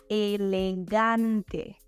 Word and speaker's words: elegante: Elegant, elegante. So, as I mentioned before, in this word, we change the "and" to "ante," and again, we change the emphasis from the English E to the Spanish A. Elegante.